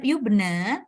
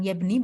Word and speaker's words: yubna: Nih, ya yubna itu dimabnikan. Yubna al-fi'al al-mudhari'. Ya, ini bukan yabni bacanya, tetapi yubna.